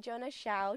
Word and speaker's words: Jona Xiao: and I'm super excited today to be welcoming Jonah chou to the show how are you doing today I'm grey and that's a great pronunciation of my name how are you when's